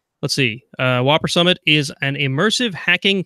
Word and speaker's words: WOPR: Okay, the next announcement is Whopper Summit. Spelled like you'd expect, WOPR.